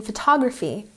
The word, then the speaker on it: photography: For example, in photography, the stress is on the second syllable.